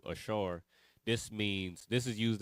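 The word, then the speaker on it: אשר: in Leviticus 5 and13 this Asher or Ashar in uh in Hebrew how it's pronounced in Hebrew Ashar this means this is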